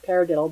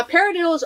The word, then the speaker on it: paradiddle: of a funny name paradiddle but like i said rudimental drumming drumming comes from an oral tradition and a paradiddle when you play it actually kind of sounds like the word paradiddle now the diddle part